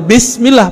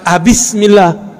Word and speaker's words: Bismillah: Tetap bacanya Bismillah, bukan Abismillah.